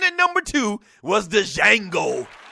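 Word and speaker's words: Django: number two was the Jango but the D is silent yeah yeah and I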